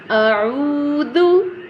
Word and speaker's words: أعوذ: This one dal, pronounce it very softly. Okay, your tip of the tongue in the mid of upper teeth and lower teeth. So now repeat it after me. A'udhu, a'udhu, a'udhu.